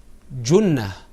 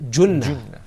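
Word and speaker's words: جُنَّة: The third word has a dhamma on top of it, and it's pronounced Junnah. Say it with me. Junnah.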